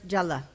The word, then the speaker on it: jala: been doing all weekend, Jala, everybody pronounce Jala. That's two shorts. Two short vowels, and they are both laghu. They are light.